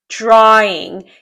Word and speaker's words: drawing: Drawing. Здесь у нас просто переход от звука А в звук lex A. Здесь нет никаких дифтонгов и нет звука В.